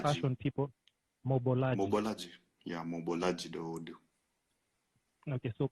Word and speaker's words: Mobolaji: I don't get his name wrong, because, you know, Mobolaji. fashion people, Mobolaji.